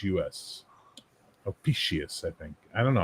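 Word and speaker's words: Ophiuchus: Ofucus. That's how you pronounce it apparently.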